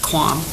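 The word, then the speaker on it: QAM: It's Q A commonly pronounced quaam.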